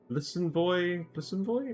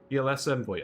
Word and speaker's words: BLS Envoy: Listen Boy, is how you pronounce that? Or BLS Envoy? BLS Envoy. Oh, yeah, BLS Envoy, like the Yu-Gi-Oh card.